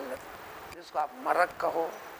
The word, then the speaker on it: مرق: ہیں، جس کو آپ مرق کہو، عربی کا لفظ مرق ہے، وہ میم را قاف، اکثر عرب تلفظ میں قاف کو گاو گاو گاو کے جیسا، خل کو گل کے جیسا استعمال کرتے ہیں، مرق کہو، خالص گوشت